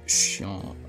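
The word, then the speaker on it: Seam: this guy first about yourself the name seemed pronounced Shan Shan oh yeah and this here is my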